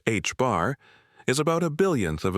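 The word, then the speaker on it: ħ: Planck found that this proportionality factor, now known as Planck's constant and denoted h, pronounced h bar, is about a billionth of a billionth of a billionth in everyday units.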